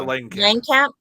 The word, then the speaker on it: Langenkamp: Heather Langenkamp.